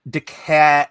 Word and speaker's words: DeKalb: it's like Whoville well I live in Deca DeKalb County as you spell it but it's the cab I think if your English it's deckled they they have this aversion to the letter L in the South it seems right Donnie